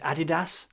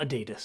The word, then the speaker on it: Adidas: Uh, it's Adidas, not Adidas. No, that's wrong. Because it's named after Adi Adidas that you created.